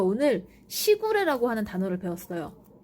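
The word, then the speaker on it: 時雨: 그래서 그 시구레가 보니까 시간 할 때 시자를 쓰고 거기에 이제 그 비 할 때 우자를 써가지고 시구레라고 읽더라고요.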